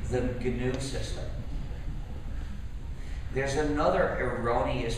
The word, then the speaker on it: GNU: Please pronounce it GNU with a hard G. If you pronounce it new, you'll get people confused.